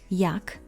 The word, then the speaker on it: Jak: The letter J is pronounced in the Polish language like the Y in yes or Y in yeti. Y like yeti or Y like yes. Let's see some examples. Jak, how.